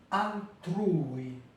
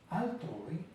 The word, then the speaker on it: altrui: Il y a pas beaucoup de mots mais j'ai mis un seulement altri pour bien entendre la différence avec le français. Autrui altrui altrui altrui les deux à l'intérieur de la même syllabe.